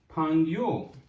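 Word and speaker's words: 朋友: आई am going to right here is the pronunciation शुए शुएशंग. शुएशंग. It's mean a student. So last one, that is अ फंग्यो.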